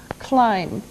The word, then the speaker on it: climb: first verb is climb climb now it doesn't sound like it looks now if this letter B is silent climb okay we climb